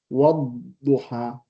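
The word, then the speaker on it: والضحى: Yeah, the wow, in fact, helps you to drop the lam.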